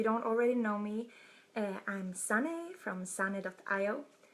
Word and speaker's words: Sanne: already know me I'm sunny from San adopt I oh it's pronounced like sunny outside but with an Ian